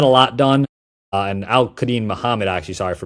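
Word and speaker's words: Al-Quadin Muhammad: up there in age and Kenneth Gainwell and Al Cadin Muhammad. You know I think this is a C type of offseason. Not a lot done and Al Kadin Muhammad actually.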